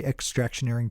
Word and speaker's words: extractioneering: dispensary whether they carry extractioneering products that's extractioneering decom which is spelled like engineering but with the word extraction good morning marijuana Nation